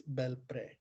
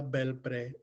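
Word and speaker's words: Belpré: Now, the name is kind of funny and it's hard for me to pronounce, but I believe it's Belpre.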